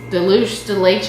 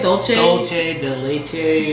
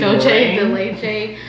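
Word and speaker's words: Dulce de leche: This is the Crunchy Melt Deluxe de Leche. Is that how you say it? Dolce de Leche. Dolce de Leche.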